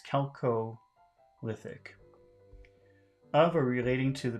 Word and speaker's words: chalcolithic: Neolithic and chalcolithic periods chalcolithic number one I'm wondering if I'm pronouncing that right but number two what is it chelco lithic oh and well according to the pronunciation it's celco lithic of are relating to